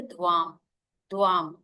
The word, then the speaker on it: ध्वम: कम सुनाई देता है तो हम करेंगे ध्वम द आधा व आ की मात्रा और ऊपर बिंदी।